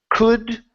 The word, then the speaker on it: could: would should in those in those words the L is silent okay so let's try that could would should okay hey